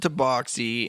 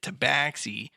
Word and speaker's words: tabaxi: I always pronounced it tabaxi. And so now I want you to name other English words that use the AX to make an ox sound, like the word ox or box.